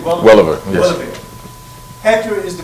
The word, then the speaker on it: Welliver: Welliver.